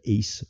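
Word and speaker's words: Ács: I was told that Peter Axe from Hungary, he was supposed to be the team captain. By the way, they have spelled his name wrong, so his name is Peter Ace.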